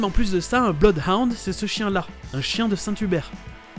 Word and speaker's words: Bloodhound: à la française, c'est Bloodhound. Blood, c'est du sang, et les deux O se prononcent comme un O tout seul, Blood.